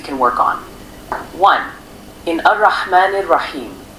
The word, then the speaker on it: الرحمن: work on one in arahman rahim make sure the ha is pronounced clearly from the middle of the throat in the elongation of